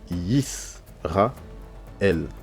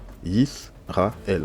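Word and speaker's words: ישראל: voyez par exemple ici c'est marqué y RA l il y a trois syllab on a la syllabe on a on a y on a ra et on a l y RA l on a trois syllabes bah la première syllab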